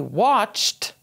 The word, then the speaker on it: watched: We watched television at night. It finishes with an H, so the ED sounds like a T.